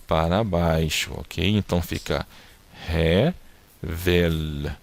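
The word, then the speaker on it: הבל: E esse L aqui no final, como eu expliquei na aula anterior, é um L que você tem que forçar um pouco a pronúncia dele, como no L do espanhol, ok? Não, o L no hebraico no final não tem o som do U, mas você tem que tentar pronunciar a letra L.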